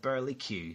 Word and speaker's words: burlesque: a big T or they called it Burly Q so I didn't know what this Burly Q was now it's spelled the same way as burles so I presumed and